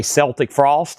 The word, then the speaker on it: Celtic Frost: Danny said he will take a Celtic frost, a Celtic Frost. It's actually Celtic Frost. Everything else is Celtics and then Celtic frost is pronounced this way.